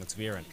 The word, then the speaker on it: Zvirin: Impressive play from young Zvirin. Am I saying that right? Yeah, you're saying it right.